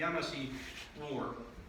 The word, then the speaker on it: Yamasee: And I've heard this pronounced 1,000 different ways, but I've been told the most correct way is the Yamasee War.